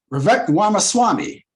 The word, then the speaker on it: Vivek Ramaswamy: And the last interview, remember the last interview when Don Lemon had that interview with Vivek, let me pronounce his name right. Vivek Ramaswamy. Vivek Ramaswamy.